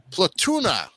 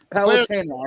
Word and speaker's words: Palutena: world, Angle Land, and its ruler, the goddess Platuna, or Platunia? Yeah. Am I pronouncing that right? Platana. Palutena, actually.